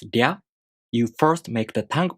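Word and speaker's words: りゃ: To pronounce Rya, you first make the tongue position of the D sound. Then the tongue moves into position for the A vowel, Rya.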